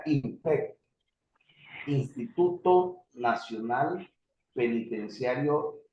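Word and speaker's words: INPEC: aquí en Colombia las siglas de esta institución se llama se pronuncia impec Instituto Nacional penitenciario y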